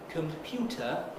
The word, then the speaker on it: computer: So for instance, computer isn't a compound. Computer, stressed on the second syllable, but computer game, stressed